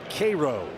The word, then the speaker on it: Cairo: Spelled like the city in Egypt, but pronounced Cairo.